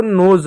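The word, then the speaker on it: nose: इसको नोज पढ़ेंगे। तो एस को एस ना पढ़ते हुए ज पढ़ा।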